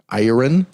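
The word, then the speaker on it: Iriun: you run or something i don't know how you pronounce it i-r-i-u-n iron is how you it's so that's a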